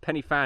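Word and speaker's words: Pen y Fan: The only reason I know it's pronunciated penny fan is cuz I heard a Welshman say it.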